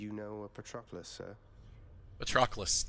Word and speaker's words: Patroclus: Patroclus. Okay, that's how you pronounce it. It's such a weird word to read, and I want to say Patroclus. Like I want another consonant in there.